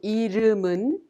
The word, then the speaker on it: 이름은: The final consonant M in the second syllable 름 of 이름은 is prolonged to the next syllable 은, so we pronounce it 문.